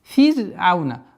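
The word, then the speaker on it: فرعون: Фир'ауна. Ра в слове фир'аун произносится всегда мягче.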